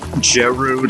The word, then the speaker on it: Gerudo: people pronounce that said Giroud oh I don't really get that I've always pronounced it as Gerudo like it just seems like it's not spelled with a J or something but I mean I